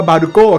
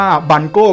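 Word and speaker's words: Balgo: คือ บังโก้ แหละ คือ ภาษา ญี่ปุ่น อ่าน ว่า บาโก้ ครับ แต่ อ่าน รวม ก็ เรียก ว่า บัน โก้ ก็ ได้ นะ ไอ้ ตัว นี้ ครับ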